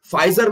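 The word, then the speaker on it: Pfizer: Okay, फाइजर में ये P silent है, याद रखना, फाइजर 1849 में यूएस में क्रिएट की गई थी एंड 70 मिलियन.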